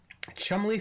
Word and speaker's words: Cholmondeley: Chumley Fanshawe, correct spelling. Oh, wait, I'm sorry. Wait. Control freak. Chumley Fanshawe is spelled Cholmondeley Featherstonehaw. Because British aristocrats, to be quite honest.